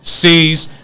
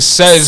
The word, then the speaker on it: Cez: C's. That's CEZ, nigga. Don't pronounce it says, nigga.